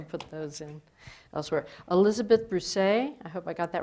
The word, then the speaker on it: Brousset: Elizabeth Brousset, I hope I got that right, Mothers for Peace. I like that pronunciation. It's French and it means Savannah grass but it's pronounced Bruce.